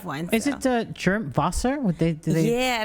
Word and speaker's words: Wasser: name no but it's close enough it's called wasser but i mean i don't get offended if it's not pronounced all right i realize it's it's a tough one it's a tough one is it the germ vosser would they do that yeah it actually means